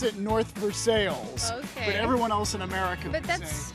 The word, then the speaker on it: North Versailles: right new name same French theme North Versa North verai that's what most people would say to we pronounce it North veres everyone else in America that's French you're right